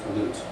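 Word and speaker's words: לוט: So we have Lot, and then we have from the root, Lut.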